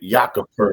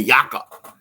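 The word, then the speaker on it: Jakob: name Joker Jacob Purtle I always pronounced his name Jacob yeah Jacob the yaka like it looked like Jacob to me bro but anyway so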